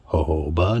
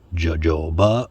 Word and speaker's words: jojoba: oil I'm going to use jojoba and it's pronounced jojoba not jojoba or yayoba your friend Google can help you with that jojoba oil you can also use sweet almond oil